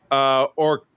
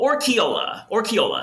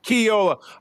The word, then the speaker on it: Orquiola: It's Orquiola. Almost. Dang it! You missed a syllable. Orquiola. Say it fast. Orquiola.